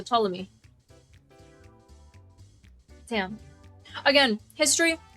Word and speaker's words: Ptolemy: The P is silent. Okay, so Ptolemy.